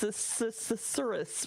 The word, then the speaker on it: susurrus: So I got tripped up by the S's in susurrus. Wait, yes. Susurrus, right?